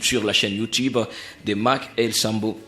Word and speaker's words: Mackelsambo: Mais dorénavant, consommez la chanson Amani, disponible sur la chaîne YouTube de Mac El Sambo. Ça s'écrit Mac Mackelsambo. Voilà. Mac-El et puis Sambo.